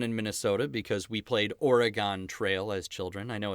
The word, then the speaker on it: Oregon: we say Oregon in Minnesota because we played Oregon Trail as children I know it's properly pronounced Oregon so I hope I don't offend